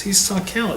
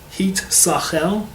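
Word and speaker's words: הסתכל: you recognize, he says, histakel, it uses the word seichel, right? This word histakel is really the word hit sachel, but Hebrew swaps around the two letters because it's easier to pronounce.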